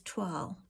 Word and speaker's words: toile: So a toile is a weird word because it's not really, well, it's a French word, first of all. So there's no English equivalent to the sound, the toile sound.